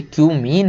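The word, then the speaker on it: Cumene: मत पढ़ लेना भाई, ये क्यूमीन है। बहुत सारे लोग समझ रहे हैं क्या क्या पढ़ लेते हैं, है ना, तो इसको वही पढ़ें जो इसका प्रोनाउंसिएशन है।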